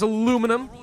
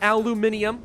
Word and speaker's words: aluminum: out yet and yes I pronounce it as aluminum not aluminium I love starting this